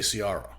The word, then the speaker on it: Ciara: So even our daughter's name is Ciara. I would say Ciara.